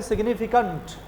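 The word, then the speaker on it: significant: अब आप देखिए, जब भी किसी वर्ड के एंड में ANT और ENT आता है तो उसका उच्चारण होता है अंट। उसका उच्चारण क्या होता है? अंट। और यदि ANCE और ENCE आता तो उसका उच्चारण क्या होता है? अंस। देखिए, उसका उच्चारण क्या होता है? अंस। तो अंट और अंस। अब मैंने बोला कि अब साधारण लोग क्या बोलते हैं इसको? सिग्निफिकेंट। क्या बोलते हैं? सिग्निफिकेंट। लेकिन नहीं, इसको बोलेंगे सिग्निफिकेंट।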